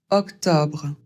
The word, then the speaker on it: octobre: Le premier O c'est vraiment une question d'accent. Je crois que je connais autant de personnes qui le prononcent comme un ouvert ou comme un eau fermé. O. Donc je vous laisse choisir. Personnellement, j'ai plutôt tendance à dire O avec un Ouvert.